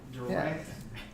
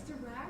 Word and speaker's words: Dirac: A Dirac Delta, How do you spell it? We don't know. nobody knows. Nobody knows. Direct. Yeah. TV. No. It's Dirac Delta, right? It's Dirac Delta. Dirac? It's Dirac.